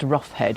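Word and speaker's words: Rocheid: Since 1665, it had been owned by the Roughhead family, which is spelled Rasheed, but apparently pronounced Roughhead in one of those weird kind of ways.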